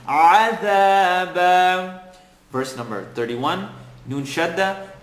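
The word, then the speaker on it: عذابا: Bite into your ayn, عَذَابًا.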